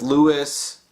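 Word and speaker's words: Luis: up in scenes with Lois or I should say Lewis is how Leon pronounces it needs dying he's like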